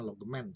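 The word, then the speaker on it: Logemann: Logman, tulisannya Logman, tapi kita membacanya Logman.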